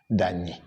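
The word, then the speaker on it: Danyi: Yeah, that's the pronunciation. Dani.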